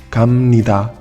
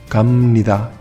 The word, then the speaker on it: 갑니다: Atención, si habéis prestado atención a esa B, os habréis dado cuenta de que la he pronunciado como una M. 갑니다, 갑니다.